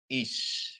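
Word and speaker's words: אִישׁ: Terus kemudian alef ya dikasih hirikyot ya. Hirikyot ya. Jadi bacanya dia is ya, karena ada shin di sini ya. Is ya. Jadi huruf senyap alef dengan konsonan hirik male atau hirik yod diakhiri dengan sin, dia dibaca dengan is.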